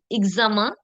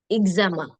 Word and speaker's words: examen: The alphabet X is often pronounced as Z. Z. Okay. For example, examen, exact, exemple, exercice, exotique.